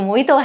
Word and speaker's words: mojito: Letter J is not generally silent, but I can think of a drink's name, which is mojito. So mojito has J silent, but again, it's a proper noun.